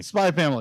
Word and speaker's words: Spy x Family: called Uh spy family spy family the x is silent oh okay it is there for stylistic reasons alone okay gotcha uh we